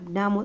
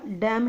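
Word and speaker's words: damn: डैम, डैम इसको N silent है बेटा, डैम ही बोलते हैं इसको.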